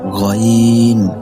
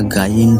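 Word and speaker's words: غين: ৩ number মাখরাজ হলকের শেষ হইতে গইন খ, উচ্চারণটা গাইন হবে না, গইন হবে।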